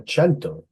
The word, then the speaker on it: cento: it in the chat a chento that's sorry Say It Again Sam it means 100 in Italian yes um but I don't